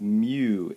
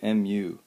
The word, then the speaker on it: mu: times the normal force this symbol here is pronounced mu mu it's represented as a coefficient of friction mu